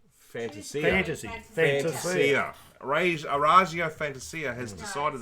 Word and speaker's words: Fantasia: But Orazio how do you say it? Fantasia, but some people... Fantasia.